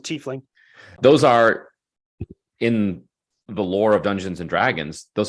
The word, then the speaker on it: tiefling: You mentioned a tiefling or tiefling or tiefling. I should, and whatever floats your boat. I pronounce it tiefling.